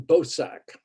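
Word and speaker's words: Boesak: I want to talk here about a South African colored man named Alan Bosack.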